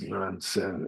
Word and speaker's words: Nansen: And here he's using the Japanese pronunciation of these Chinese names. So he says Nansen and Joshu instead of Nanchuan and Jiaozhou, but it's the same people.